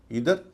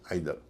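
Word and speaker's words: either: टी एच ई आर इसके भी दो उच्चारण है इदर आइदर इसका मतलब आप जानते ही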